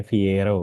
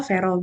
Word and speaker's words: Viero: Ada E-nya, dibacanya Viero gitu, atau Viro aja. Fiero bisa, Vero bisa. Oh, Vero, Viero atau Vero gitu ya.